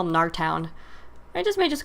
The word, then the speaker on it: Gnartown: It's G-N-A-R, so I'm assuming the G is silent, so I'm just going to call him Gnartown.